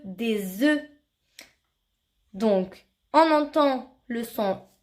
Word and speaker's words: œufs: Si tu te demandes pourquoi on dit E, alors quand tu mets le mot œuf au pluriel, cela ne se prononce plus œuf mais E, des œufs.